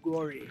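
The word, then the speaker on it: Gorée: So the French people, they could not pronounce the word. They say Gore.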